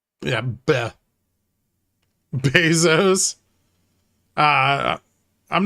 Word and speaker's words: Bezos: they probably don't care I think it's actually Bezos this is how it's pronounced yeah Bezos uh I'm not investing